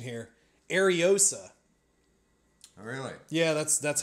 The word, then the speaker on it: Ariosa: Oh, they have a pronunciation here. Ariosa.